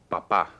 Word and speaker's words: papá: versus papá. Papa. Okay, notice one has an accent. So one is papa, the first one. Segunda es papá. Papa. So they're pronounced differently.